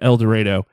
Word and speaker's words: El Dorado: So my friend Justin, when we were growing up in El Dorado, and yeah, don't correct me on that. That's how it's pronounced.